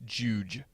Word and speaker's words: Jowj: Oh, apparently it's Jowj. Really? At least that's how they would pronounce it.